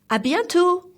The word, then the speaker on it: à bientôt: means see you soon then again like salary the T is silent let's repeat together a bientot one more time a